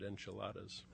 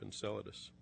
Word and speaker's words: Enceladus: one of those places I recently heard a TV newscaster pronounce it enchiladas our speaker tonight will show you huge ice icy geysers continuously erupting from the south polar region of Enceladus Imaging and compositional data